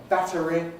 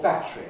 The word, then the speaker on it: battery: Battery or battery? I need a new battery. I need a new battery. Americans don't do this as readily as the Brits do.